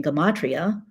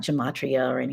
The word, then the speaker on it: Gematria: And in Gematria, in case you wondered, that's how you pronounce it. It's not gematria it's Gematria.